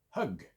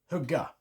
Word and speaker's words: högg: But an example of the pronunciation difference. Hög, hugg.